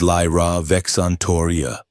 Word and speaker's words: Lyra Vexantoria: It is Lyra Vexantoria. The Vex is a throat sound, like a growl.